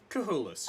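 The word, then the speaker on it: Chullis: From, how do you spell that? Good luck. Ku? C-U space Space. C-H-U-L-L-I-S. C-H-U-L-L-I-S. Cahulis.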